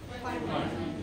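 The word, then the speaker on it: Pfund: इसका नाम है फंड। ये साइलेंट है। प्रोनाउंसिएशन क्या है? फंड।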